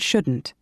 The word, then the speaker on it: shouldn't: Can't and shouldn't. Part A. Listen and practice these statements. Notice how the T in can't and shouldn't is not strongly pronounced.